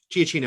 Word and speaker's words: Giacchino: Giacchino, I believe.